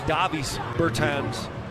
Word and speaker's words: Dāvis Bertāns: I say Dāvis Bertāns, I guess pronounced in his native tongue, Dāvis Bertāns.